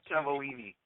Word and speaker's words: Cavallini: Cavallini? It rhymes with Martini. Martini Cavallini.